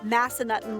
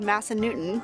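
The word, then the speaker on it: Massanutten: to pronounce Shen andoa there is Massa nuton Lodge which Howard just called Massa Newton which prompted me to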